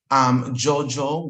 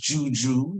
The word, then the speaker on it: juju: You will hear Jojo, which is now pronounced Juju here in America.